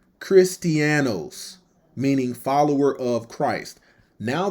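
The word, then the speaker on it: Χριστιανός: Okay, the word Christian, G5546, pronounced Christianos, meaning follower of Christ.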